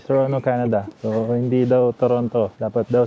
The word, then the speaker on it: Toronto: So hindi daw Toronto.